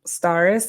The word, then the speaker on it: Starris: you pronounce it so staris is just my name mashed together Harris oh I didn't even